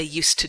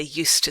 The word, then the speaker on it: used to: end of use but the pronunciation just doesn't change don't let it affect your pronunciation it's exactly the same so what did they used to do they used to throw shoes poor people